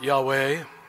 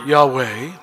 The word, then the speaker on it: Yahweh: and in the pronunciation, the three different consonants that are used in the spelling of the word Yahweh are the only Hebrew consonants that do not allow you to close your lips?